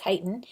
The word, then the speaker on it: chitin: beta 1-4 linkages chitin spelled chitin but it's pronounced chitin is a type of complex carbohydrate or polysaccharide